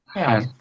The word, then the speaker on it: help: When you pronounce HL and th health. Okay. Your mouth is stay open when you finish pronouncing that word.